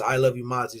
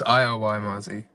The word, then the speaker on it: ILYMAZZI: is it uh uh is your name pronounced how you said I Y Mazi or it's I love you Mazi is that is that how your name is pronounced it's iy Mazy i y all right all right